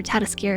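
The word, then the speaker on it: Ratatoskr: biome behind my head the little squirrel character is rat Rattata skier I think they said they pronounced it as we're tatascara in the in the Showcase is a character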